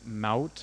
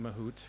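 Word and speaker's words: Mahout: a project called Apache Mount I've been calling it mahoot for ages but it's it's pronounced like Trout the fish um and it is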